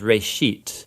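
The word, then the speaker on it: רֵאשִׁית: Genesis comes from a Hebrew word. It's pronounced reshit, and it just means beginning.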